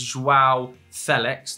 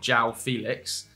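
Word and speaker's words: João Félix: And it is Joao Felix, not Joao Felix.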